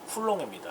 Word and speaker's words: 쿨롱: 자, 그래서 이니셜을 Q라고 말하고 단위를 C라고 썼는데 읽는 법은 쿨롱입니다. 그래서 Q 쿨롱 이렇게 읽으면 됩니다. 자, 우리 전 차트에서 배웠다시피 전자 한 개 가지고 있는 전기량은 1.60219 곱하기 10-19승 쿨롱입니다.